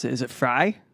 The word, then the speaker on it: Frei: pronounce it is it fry it is fry because it's a derivative of the first half of my last name oh there perfect viva